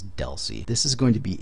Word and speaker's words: DLCI: Data Link Control Identifier, DLCI, which is pronounced DELCI. That's how you're going to hear it 99% of the time, is DELCI.